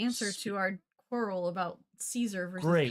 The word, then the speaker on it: Caesar: It took it took a long time to follow those many basically older Latin versus newer Latin pronunciations. Yeah. So when they say Kaiser in the show, they're right.